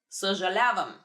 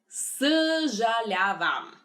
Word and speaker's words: съжалявам: Another good word to use is съжалявам.